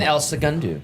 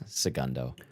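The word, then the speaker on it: El Segundo: In Elsa Gundu. Okay. Okay. And I didn't say it right. I said Elsa Gundu. It's Sagundo.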